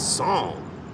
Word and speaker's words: Psalm: Because if I go read that good holy book, it's Psalm.